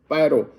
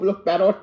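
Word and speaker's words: Poirot: पर दो बेसिक हरक्यूल पैरो पैरो को पैरोट ना कह दे क्योंकि टी साइलेंट है और दूसरे है डॉक्टर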